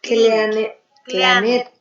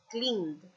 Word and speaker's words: cleaned: Se dice Cleanet. Exactamente, ese cleanet. Que se dice en realidad cleaned.